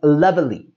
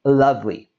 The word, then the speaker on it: lovely: in the word and there is a common tendency to pronounce this as lovely but again we don't need to say all the sounds we drop that e and we say lovely and if you don't